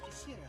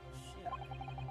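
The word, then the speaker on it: 頭: It's written as head in Japanese, and it's pronounced as Kishira, I believe. Kishira.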